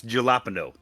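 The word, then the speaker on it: jalapeño: um and orange juice no you said it wrong it's jalapeno it's a joke a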